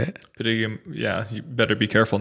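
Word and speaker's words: Padegimaite: Padiga, yeah.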